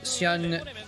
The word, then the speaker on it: Hyun: Let's see, his name is Go Hyun Hyun. So yeah, it's Hyun. That's how it's pronounced.